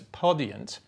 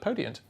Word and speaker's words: Podiant: So the first is called the Bullseye Award, and this is supported by what should sound like it's pronounced as Podiant, but it's Podiant.